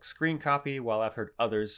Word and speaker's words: scrcpy: name it's called scrcpy i pronounce it like screen copy while i've heard others